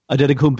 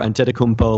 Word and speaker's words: Antetokounmpo: had basically said, like, Antetokounmpo or Antetokounmpo, like one of them is the Nigerian pronunciation, one of them is, how it's pronounced in the U.S. Like, I'm okay with either of them.